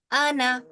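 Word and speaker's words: أنا: नहीं रहेगा ठीक है अना बस अलीिफ जो इसके ऊपर अलिफ है ना इसके साथ ये पढ़ा नहीं जाता ये साइलेंट है ठीक है अन मुबीन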